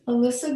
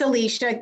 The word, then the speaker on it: Alicia: on our agenda is Alyssa geduti and you know what I think I just mispronounced your your name yeah you did fine it's Alicia Alicia but thank you Noah